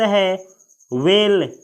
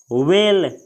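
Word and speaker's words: whale: अगला शब्द है वेल। वेल, इसे कोई कोई हवेल पढ़ता है, लेकिन इसका करेक्ट प्रोनाउंसिएशन यानी करेक्ट फोनिक लेटर है वेल। वेल।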